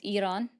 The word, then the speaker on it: Iran: He's still saying it wrong with the I, the emphasis on the I. But because it's Iran, just saying that, right? But it's cool. Everyone wants to get mad at me for saying it correctly and rolling my R's.